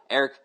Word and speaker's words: Aric: Next question, Eric Guresco. I believe it's pronounced Eric. He's got an A. It's spelled ARIC, which is interesting. I like it, but I'm gonna go with Eric.